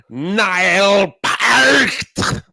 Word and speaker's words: Neil Peart: That's not how you pronounce his name. It's Niall Peart.